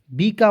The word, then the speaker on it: bake: ठीक है, रूल क्या कहता है? ए के तुरंत बाद कोई कॉन्सोनेंट आना चाहिए, अंतिम में ई आना चाहिए, तो इसका उच्चारण एक एकले के रूप में करेंगे। तो देखिए BAKE बेक।